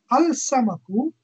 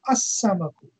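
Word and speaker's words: السمك: Al-samaku, the fish, becomes as-samaku.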